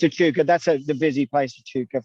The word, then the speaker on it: Echuca: Echuca, I think it's pronounced. Oh no, it's Echuca. Yeah. No, it's Echuca.